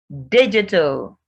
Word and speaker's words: digital: Digital. Even without the AL, the word is digit. Adding the AL doesn't change to digit. So it's digit, digital.